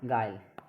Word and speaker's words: guile: जैसे vowel AEIOU, यानी कि GUILE गाइल, यानी कि यू साइलेंट कब है, इसमें वोवल है, यू है।